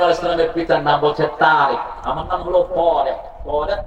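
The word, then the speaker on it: طارق: তা আলিফ রা কাফ, আর হলো তোয়া আলিফ রা বড় কাফ, কাফ যেটার গলার ভিতর থেকে যেটা উচ্চারণ করে না।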